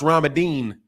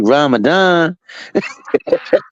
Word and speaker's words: Ramadan: but you should have told him it was pronounced ramadine yeah you heard that frequent fly say it right n you know it's really Ramadan that's my God though do that impersonation again